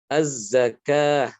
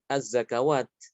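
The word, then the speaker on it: الزكاة: Az-zakah bukan az-zakawat. Ya. Ini jadi wawu tertulis berbeda dengan pengucapannya ya.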